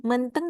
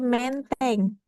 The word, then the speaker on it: Menteng: Karena dia berasumsi bahwa oh ada bunyi kalau di sini berarti bunyi itu dibacanya e. Kemudian dia nanya lagi ke polisi, Pak, menteng di mana? Katanya gitu. Terus kata Pak polisnya, bukan menteng, Bu, tapi menteng.